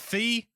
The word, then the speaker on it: Fi: is it fee? I'm never sure. I say Fi. I think it's Fi, like Wi-Fi.